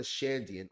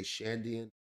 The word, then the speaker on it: Shandian: He looks a lot like a Shandian or a Shandoran, however you want to pronounce it. I like to say Shandian.